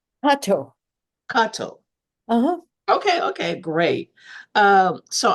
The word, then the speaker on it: Kato: Am I pronouncing it right? Kato.